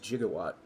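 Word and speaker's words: gigawatt: pronunciation of Giga because it's correctly pronounced jigawatt GI just like GIF it's GIF not GIF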